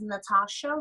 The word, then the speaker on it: Nathasha: So you can find me on Instagram at vocally, And then my YouTube channel is Natasha. So Natasha spelled with Nathasha. There's a silent H in there.